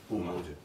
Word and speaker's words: Umoja: Make sure I pronounce it right. It's Umoja. I said? Umoja, right? Umoja, yeah.